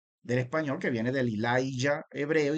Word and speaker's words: Elijah: Sepa usted que en inglés esa Y viene convirtiéndose en una J, ¿sí? En inglés se escribe el nombre con J, pero suena así, sigue sonando como si fuera una Y del español, Elijah.